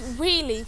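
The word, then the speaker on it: Weoley: find a whirly Castle it's spelled Wei but you say wheie castle okay the first castle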